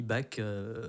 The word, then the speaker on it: Bach: Et mon nom de famille, Bak, qui n'est pas de la famille allemande, mais d'un dérivé du chinois.